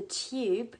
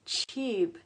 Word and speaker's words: tube: Notice the pronunciation, it's not the tube, it's tube, so with the ch sound.